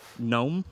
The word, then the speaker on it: gnome: Give me the whole word that in most American accents begin with a silent letter. Has a bouquet. Here we go. A ring of plants or flowers? A wreath. Yes. A tiny mischievous dwarf? Gnome.